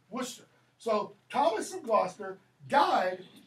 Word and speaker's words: Worcester: Worcester, not Worcestershire, okay? Worcester.